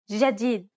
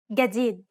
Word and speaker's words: جديد: In Egyptian Arabic, this letter is pronounced like a regular English G, as in game. Let's listen to the difference one more time. In Standard, جديد and in Egyptian. جديد Of course, both pronunciations are correct.